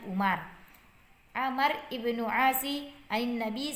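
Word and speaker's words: عمر: Sementara jika tidak ada wawnya ini maka dibaca dengan Umar.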